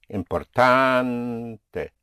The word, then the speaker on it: importante: Right now, I will say, whenever you have a vowel at the end of a word, that one single stress will be placed on the penultimate syllable, on the syllable before last.